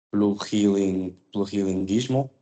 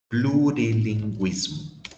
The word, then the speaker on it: plurilinguismo: Plurilinguismo. Plurilinguismo. Plurilinguismo, normal. Isso. Muito parecido com o espanhol, né?